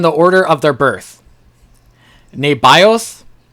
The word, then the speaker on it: Nebaioth: Nebaioth, Nebaioth, the firstborn. Well, I guess it'd be T, not Th.